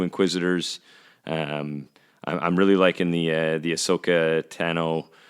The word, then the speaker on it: Ahsoka Tano: I'm really liking the Ahsoka Tano, which sounds like katana. Ahsoka Tano, katana.